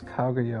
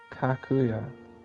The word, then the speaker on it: Kaguya: And yeah, you get like this postcard that says Princess Kaguya on it, but she can't pronounce it correctly. So you just end up referring to her as Kakuya. She can't say the GU.